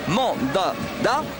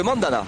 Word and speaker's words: Mandanda: 3 Normandie qu'il est, m'a dit le D on le prononce, donc c'est moins facile pour le gardien du Havre, mais on dit bien Steve Mandanda plutôt que Mandana.